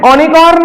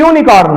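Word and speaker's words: unicorn: ये ओनिकॉर्न है बेटा कि यूनिकॉर्न है? ये यूनिकॉर्न है।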